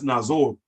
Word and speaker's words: Nazor: You are is pronounced or, as in the English word or, me or you, or, just like it says in the Bible, Abraham was born in Ur of Chaldea. You don't pronounce that of Chaldea or Chaldea. You pronounce it or.